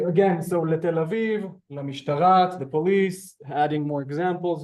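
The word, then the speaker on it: משטרה: So I can interchange Tel Aviv with La Mishtara.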